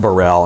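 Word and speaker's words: Baril: And it's pronounced Burrell.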